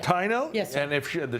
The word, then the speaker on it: Taino: She's from, how do you pronounce it? We've had you guys on before. Taino or Taino? I believe it's Taino. Taino?